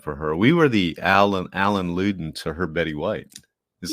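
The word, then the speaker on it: Allen Ludden: We were the Alan Ludden to her Betty White. Is that how you say his name? Alan Ludden.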